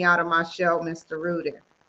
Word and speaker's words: Rudin: It's Ruden, and I am from Long Island outside of New York.